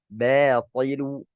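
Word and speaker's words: باطل: Contohnya batilu, batilu. Nah, kesalahan membacanya ya seperti yang Anda katakan tadi. Ya, ketika huruf tipis bersanding dengan huruf yang tebal, itu kebanyakan orang membaca huruf yang tipis itu menjadi tebal.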